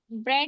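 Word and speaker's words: bread: इ आए तो देखें ब्रेड लिखा है बी आर ई ए डी ए के पहले ई आए तो जो ए होता है वो हमारा साइलेंट हो जाता है। आया समझ ब्रेड ब्रेड ड्रेड ठीक है।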